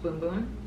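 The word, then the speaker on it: Bum Bum: giant tub of the boom boom cream oh ps it's spelled b-u-m-u-m but it's pronounced boom boom learn that on their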